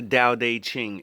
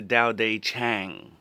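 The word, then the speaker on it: Tao Te Ching: the book was and it's not the Dao de Ching it's the Dao day Chang stop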